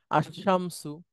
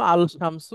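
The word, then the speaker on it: الشمس: কমারু এভাবেই উচ্চারণ হয় মূলত ছিল আল শামসু আল শামসু শামসুটা কঠিন এজন্য ওইটা হয়ে যায় আশামসু এই ধরনের এই যে শিন এটা হচ্ছে একটা হুরুফুস শামসিয়া অর্থাৎ আলিফ লামের পরে আসলে লামটা আর উচ্চারণ হয় না একচুটে শিনটা উচ্চারণ হয় আবার এদের আগে যদি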